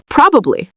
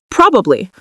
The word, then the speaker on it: probably: You can say probably with 3 syllables, probably, probably, or you can say it in conversation with 2 syllables, probably, probably, or probably. You will hear people use both.